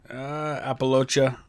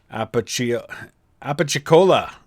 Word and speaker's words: Apalachicola: Looks like Appalachia. That's not how I pronounce that. Apalachicola.